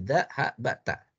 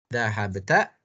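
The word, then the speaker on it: ذهبت: Dhahabat, ini tulisannya dhahabata. Tapi bisa kita baca dengan 4 cara bacaan. Dhahabat, dhahabta, dhahabti, dan dhahabtu. Ya. Tulisannya sama, tapi bisa kita baca dengan 4 jenis bacaan.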